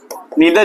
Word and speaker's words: neither: नीदर parallel nor perpendicular, orthogonal, नीदर ही अच्छा pronunciation है, नीदर ही सही प्रोनाउंसिएशन, नाइदर नहीं होता, नीदर होता है।